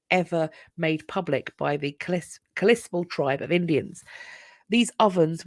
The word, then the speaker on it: Kalispel: It's pronounced Kalispel. Kalispel. Oh, apologies. The Kalispel. Thank you.